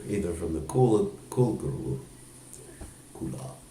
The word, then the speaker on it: kula: So sometimes people accept Diksha either from the Kula guru, Kula. It's actually Kula, but sometimes it's pronounced cool.